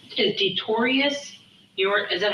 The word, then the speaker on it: Detorious: Is Detorius is that how, am I saying it right? DETORIOUS? Yeah. You know what? Or Dink. Or Dink. DINK. My daughter's name is Tori, so I like that. Detorius.